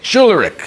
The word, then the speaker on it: Schularick: Schularick.